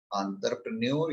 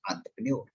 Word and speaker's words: entrepreneur: एंटरप्रेन्योर actually इसका जो pronunciation है इज एंटरप्रेन्योर, क्योंकि ये फ्रेंच वर्ड है, वो जीभ घुमा के बात करते हैं। लाइक लेज़-फेयर, लियोन, ल्यूटियन, तो वो मुंह गोल हो जाएगा, टंग ट्विस्ट होगी, तब इनकी प्रण बहुत सारे लोग इसको एंटरप्रेन्योरशिप बोल देते हैं, वो गलत प्रोनाउंसिएशन, इट्स एंटरप्रेन्योर, मतलब मुंह गोल होगा, टंग ट्विस्ट होगा, ठीक है।